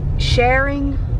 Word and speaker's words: Charing: y'all i think we're in a place called sharing it's spelled c-h-a-r-i-n-g georgia stuck in a road and